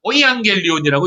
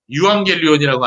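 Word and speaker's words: εὐαγγέλιον: 이거를 이제 독일어를 하시는 분들은 오이앙겔리온이라고 읽더라고요. 예, 제가 이제 신학교 다닐 때 독일에서 공부하고 오신 교수님이 있었는데 그분이 유앙겔리온이라고 안 하고 오이앙겔리온이라고 읽더라고요. 예, 독일어는 그 발음을 오이라고 하거든요. 예, 같은 뜻이에요.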